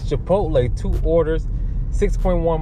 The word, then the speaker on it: Chipotle: holla did it again i said it wrong it's chipotle two orders six point